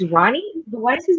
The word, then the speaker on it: Romany: Okay, it's Ronnie. But why is his name spelled like No, no, Roma?